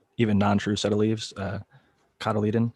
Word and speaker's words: cotyledon: You can use the first, like even non-true set of leaves, cotyledon, I think is how it's pronounced.